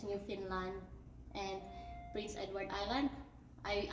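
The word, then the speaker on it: Newfoundland: bruns week noos scos new foundland I Believe they pronounce it as new Finland and Prince Edward Island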